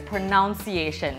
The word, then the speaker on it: pronunciation: So I'm pretty sure it's pronunciation. Oh, wrong? No, look at the spelling of this word. Pronunciation. Oh. So it's pronounce, but pronunciation.